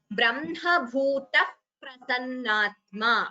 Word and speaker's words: ब्रह्मभूतः प्रसन्नात्मा: This here it is a visarga followed by pa, so we get what we call upadhmaniya, as you all will already be aware by now. So the way it is pronounced is Brahma Bhuta Prasannatma.